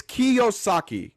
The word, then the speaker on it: Kiyosaki: And you're by the way, it's Kiyosaki.